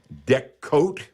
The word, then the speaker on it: Deckote: And I would use products like Deck Coat, for example, and that is spelled DECKOTE.